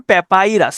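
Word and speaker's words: papyrus: তো এই প্যাপাইরাস উচ্চারণ করতে পারেন প্যাপাইরাস।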